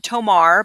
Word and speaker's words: tomar: stay um so again tomar this is the verb tomar but that's not how you're going to pronounce it i want you to try to roll to roll at the end of that so right and then